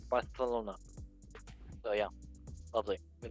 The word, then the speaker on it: Barcelona: Yeah, you're supposed to say it like Barcelona. I am pretty sure. I always see people try to correct people on how it's not Barcelona, it's Barcelona.